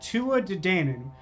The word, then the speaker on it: Tuatha Dé Danann: Like, literally, he pronounces that Tuatha Dé Danann, which means that, like, fully half of that first word is just for fun.